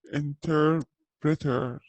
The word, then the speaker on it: interpreter: Okay, so we have a pilot طيار an interpreter ما يختلف نطقها في بريطانيا عشان الآر ما ينطقوها so interpreter a nurse chef accountant a journalist a postman an architect a shop assistant.